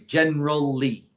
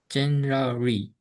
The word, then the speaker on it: generally: But you will hear most people pronounce only three syllables, not four.